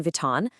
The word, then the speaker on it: Vuitton: Just remember, silent H in Hermes, that tricky nasal on in Vuitton, the hard G in Gucci, and of course, that surprising U sound in Bulgari.